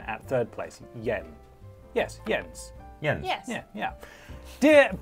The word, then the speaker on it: Jens: YouTube by the way first name is pronounced like yes with an N at third place Yen yes yes yeah yeah